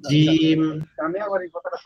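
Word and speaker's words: جيم: উচ্চারণ করবেন ইনশ্লাহ এর পরের আমরা জিম জিম জিম জিমটা কিভাবে উচ্চারণ হবে জিমটা উচ্চারণ হবে হচ্ছে আমাদের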